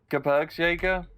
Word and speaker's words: Gebirgsjäger: Gebirgsjäger?